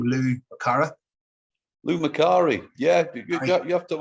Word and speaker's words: Lou Macari: So as you said, without the social media, the likes of Daniel Craig, Nicole Kidman, and how do you pronounce that guy's name? Lou Macari? Lou Macari, yeah, you have to have a look back.